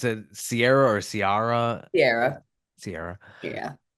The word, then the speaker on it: Ciara: And you pronounce it Sierra or Ciara?